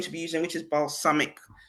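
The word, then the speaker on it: Balsamiq: be using which is balsamic. I know there's balsamic vinegar. It's pronounced the same way, but it's not spelled the same way.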